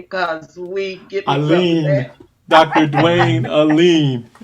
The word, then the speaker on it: Alleyne: welcome and if you notice we haven't been pronouncing your last name because we get dr dwayne alim right did i say it right yes he